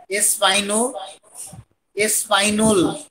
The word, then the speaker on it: espagnol: Have some exceptions also, so pronunciation एस्पाइनो एस्पाइनोल, यहां पर एल की प्रोनाउंसिएशन थोड़ी सी होगी न के बराबर, एस्पाइनो एस्पाइनोल general, in general in French last letter we कैन not pronounce, this one इज ए स्पाइनोल, this one इज ए स्पाइनोल, ल की यहां प्रोनाउंसिएशन फेमिनिन जेंडर के साथ कंप्लीट होगी, क्लियर।